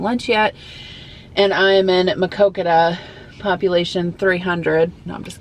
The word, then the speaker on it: Muscatine: Funny story, every time I see the name Muscatine, which is how you say this town's name, I think of it being pronounced as Makokita.